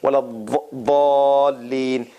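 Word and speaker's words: ولا الضالين: So the teeth, there's no Z sound in this. This is like the Saudi Arabia and those region pronunciation and others. And then Iraqis and some others, they pronounce it with a Z sound, with a hissing sound.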